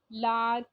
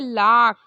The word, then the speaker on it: lark: English language में जब हम इस वर्ड को बोलते हैं, जब इंग्लिश की तरह इसे प्रोनाउंसिएशन देते हैं तो हम इसे कहते हैं लाक। एक्चुअली आर की जो आवाज़ है वो कहीं ना कहीं हल्की होती, बहुत स्लाइट होती है।